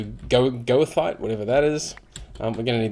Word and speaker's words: goethite: It's almost like it should be geothite, but it's spelt with G-O-E, so goethite, whatever that is.